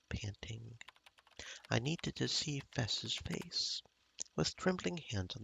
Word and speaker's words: FES: He pronounced it like the first half of festival. Okay, so I'm saying her name wrong. Gomen. Fess.